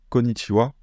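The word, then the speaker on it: こんにちは: Il y a quelques mots où ce ha va se prononcer wa, konnichiwa.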